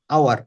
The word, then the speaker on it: hour: আওয়ার, আওয়ার, এখানে Hour. এইচ এর উচ্চারণ হবে না, আই এম হ্যাঁ, going an I am going in an hour.